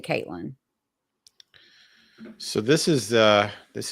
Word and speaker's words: Katlyn: Um I think it's K A T L Y N. I'm like 99.9% sure. I've seen it that way several times because I keep having to correct myself when I write. And real me too says it is Caitlyn.